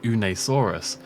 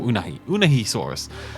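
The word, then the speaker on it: Unaysaurus: my Temptation was very much to call it un asaurus but it is actually pronounced unahi or unah un I think it's unahi unahi or uni or unahi unahi saurus and unahi means black water in the T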